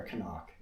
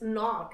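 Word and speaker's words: Cnoc: And the other thing is we have this, I don't know if it's C-knock or Canuck. It's knock, actually.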